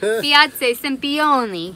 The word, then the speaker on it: Piazza Sempione: This is Piazza Sempione. Yeah, you need to say it like a piazza. Piazza Sempione.